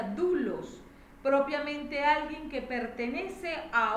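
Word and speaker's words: δοῦλος: Ahora estudiemos el término esclavo del Strong griego 1401, doulos, y se pronuncia doulos, propiamente alguien que pertenece a otro, un esclavo, sin ningún derecho de propiedad propio.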